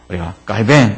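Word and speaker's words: Calvin: 야 되거든요 그래서 이 칼빈은 프랑스 발음으로 하면 갈 병입니다 깔개 그래서 우리가 갈비 인 그래도 되지만 깔 벤 이렇게 부를 불러주면 말처럼 뭔가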